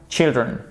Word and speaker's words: children: Donc là, il y a deux choses à retenir, à la fois l'orthographe, child, children, et la prononciation du i. D'accord? Donc faites bien attention, s'il vous plaît. Child, children.